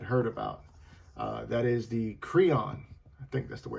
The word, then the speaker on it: Creon: That is the Creon. I think that's the way it's pronounced.